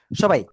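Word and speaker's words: ث: সবাই জিহ্বার আগা, সামনের উপরের 2 দাঁতের আগায় লাগান, লাগান লাগান, লাগিয়ে নরম করে হালকা বাতাস বের করবেন। বের করে আপনি এটা উচ্চারণ করবেন। ঠিক আছে? সা, সা, ফা না কিন্তু, আগের থেকে পড়েন না,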